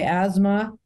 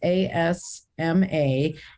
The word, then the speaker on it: Asma: bollywood a calling by asthma how do you say your last name and it's an asthma is asma and it's available at